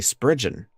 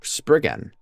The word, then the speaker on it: Spriggan: Before I completely forget, I learned that I've been mispronouncing this the whole time. It's actually Spriggan instead of Spriggan. Because apparently this is very Celtic coded.